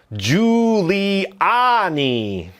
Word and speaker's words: Giuliani: David Boyd 1617 wrote, "Jiuliani is pronounced with a soft G like J, not a hard G."